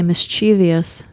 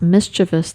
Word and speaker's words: mischievous: Speaking of pronouncing words, there's one that commonly gets mispronounced, and that's, we like to say mischievous. But it's actually not. It's mischievous. It's not a V-I-O-U-S. It's V-O-U-S.